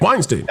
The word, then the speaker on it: Weinstein: Weinste Weinstein Weinstein I don't know how to pronounce it anyway. Weinstein Yeah yeah Weinstein at the time and and